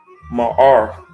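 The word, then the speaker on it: מָאַר: Ma'ar, right? Ma'ar. Strong's H3992. Ma'ar. Ma'ar. Mud'ed, right? Ma'ar, right? That's how you say it in Hebrew.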